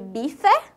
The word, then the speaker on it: bife: Mas, por ele estar no final da palavra, ele fica com o som de I. Então, fiquem bastante ligados nisso aí. A gente... escreve bife e fala bife.